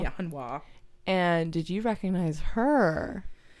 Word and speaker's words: Harnois: It's very French. Very. It's spelled like Harnois. Yeah, so that's super but it's got to be French. Hanwha. Yeah, Hanwha.